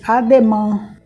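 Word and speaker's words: à demain: no dia seguinte diz ademan a separado deã o deman tem um a um I um i e um n então a gente diz a gente procura pronunciar o som anasalado pelo nariz ademan vem para cá o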